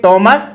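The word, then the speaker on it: Thomas: अब ये थाईलैंड और थॉमस नहीं है, ये टॉमस और टाइलैंड है। इसका हमने ट्रांसक्रिप्शन किया है ओ टॉमस, टॉमस। इसी प्रकार से ये देखिए टाइलैंड, नॉट थाईलैंड, टाइलैंड।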